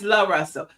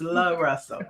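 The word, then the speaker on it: Luh Russell: I had booked him for something week before last, and his team sent back L-U-H Russell, so that it would be pronounced right. So it's Love Russell.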